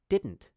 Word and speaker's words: didn't: You might find it helpful to note that this pronunciation is almost the same as simply saying din.